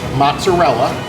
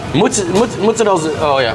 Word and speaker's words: mozzarella: So another word I wanted to ask about is mozzarella. What is the way that you pronounce? Because I just say mutz to get off easy. Yep. It's the lazy way of doing it.